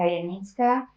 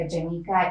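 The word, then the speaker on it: Janicka: So hello, I'm Yanitka. Just if you want to pronounce my last name because I know it's kind of hard with this Polish language, you can name me Janika. It rhymes well.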